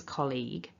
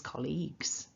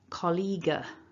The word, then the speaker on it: colleague: word, the single form, colleague. No. Remember, when it's in plural, colleagues, singular, colleague. So that's the key thing, is don't allow the G and the U to throw you off.